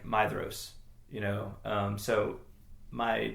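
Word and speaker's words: Maedhros: I've had I I started out thinking it was like Madros or, you know, ma uh like Mad Madros and it's actually like Maidos, you know.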